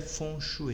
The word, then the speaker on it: feng shui: é um funcho e a escrita dele é feng shui porém ou a pronúncia correta é funcho e um show é